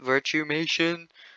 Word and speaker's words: Virtumation: will be called virtumation that's how you actually pronounce it virtumation virtual animations that's what it's supposed to stand for so virtualmation tree there